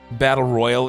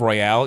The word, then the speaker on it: Royale: whenever they do it, they pronounce it the Canadian way. How is that? Battle Royal instead of Royale, even though it has the E at the end, they still just call it Battle Royal.